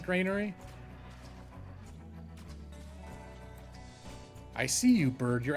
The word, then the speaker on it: Grainery: it there he is wait gray ner or was I saying it right oh you also pronounce it Grainery I see you bird